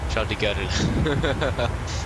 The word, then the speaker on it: Charles de Gaulle: Again, I think I pronounced it incorrectly. I don't think it is an R in there. Charles de Gaulle.